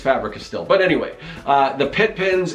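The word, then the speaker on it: Faber-Castell: I never know how to pronounce that. I think it's Fabri-Castell.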